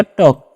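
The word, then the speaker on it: talk: उसी से टी से ट हो जाएगा। ए का औ करेंगे। एल का आधा र करना मतलब करना ही नहीं है उसका। कैसे का तो हो गया टॉक। एल साइलेंट होता है।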